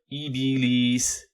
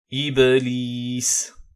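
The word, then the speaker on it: إبليس: dans le mot iblis attention à ne pas dire ibis ibis non yb iblis voit maintenant concernant la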